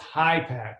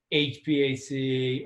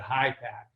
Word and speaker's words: HPAC: an order but it's it's pronounced high pack not hpac or high pressure rare